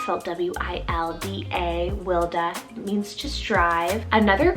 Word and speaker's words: Wilda: rooted meaning vineyard w name here gorgeous is wilda so w-i-l-d-a wilda means to strive another great kind of